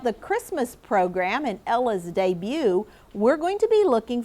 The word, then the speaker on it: debut: It's a foreign word and it is pronounced debut. Would you read it with me, class? Debut. So when you come to this word, we're not going to say the t.